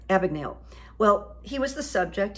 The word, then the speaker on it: Abagnale: Steven Spielberg did about Frank Abbott Abigail Abigail I can't say his name it's Frank Abagnale well he was the